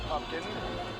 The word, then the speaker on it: Pupkin: Rupert Pupkin.